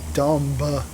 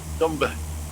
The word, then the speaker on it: dumb: yeah, that's like really dumb. Why is there a Okay. B in dumb? Dumba. Dumb. Sounds dumber when you say it like that. The bit is silent.